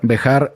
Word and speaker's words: Behar: torá una primer porción se llama bejar bejar se pronuncia de esta manera en nuestro idioma y eh se escribe